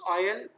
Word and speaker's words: aisle: In the produce aisle and in your produce aisle. produce aisle. Yes, S is silent here, Salim.